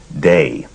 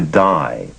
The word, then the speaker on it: Dai Vernon: based in New York his friends and and people around him pronounced his first name day and when he moved to California the pronunciation shifted to die and there were sometimes uh moments of almost friction on on the issue of pronunciation so not surprisingly many people would ask him what's the correct pronunciation day or die and he would smile and say say either or either okay you say you're